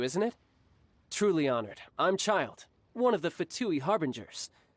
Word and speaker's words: Childe: Oh, you actually pronounce it child? For some reason, I thought you would pronounce it like Childe or something.